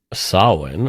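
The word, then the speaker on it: Samhain: um people believe back in the days of Sinn or it's it's spelled like Sam Hayne but it's pronounced Sinn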